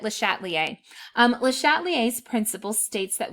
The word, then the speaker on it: Le Chatelier: le chatelier's principle now le chatelier was french i took spanish in high school so you might hear other people say his name different than me um but i've always said it le chatelier le chatelier's principle states